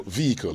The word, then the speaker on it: vehicle: them to you so vehicle if you want to say it right H not vehicle not vehicle no no no the H in there is not pronounced the H is not